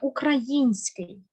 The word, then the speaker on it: український: серія Ми з подружкою ходили до піцерії наступне український український українець Українка падає наголос на ї запам'ятаймося далі слово жалюзі маємо